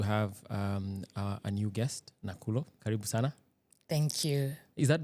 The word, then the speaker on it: Nakhulo: name I don't nulia K is silent in both so it's not so ignore the k n a k hu l o yes today I'm going